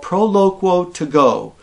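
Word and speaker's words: Proloquo2Go: And that's a program or an app called Proloquo to Go. That's spelled Proloquo Q-U-O, the number 2, and the word go, all strung together.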